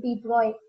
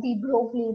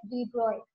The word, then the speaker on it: de Broglie: Here the name of the scientist, that De Broglie, he's a French national, so the pronunciation of his name is De Broglie. In India, we pronounce it as De Broglie, but it is wrong.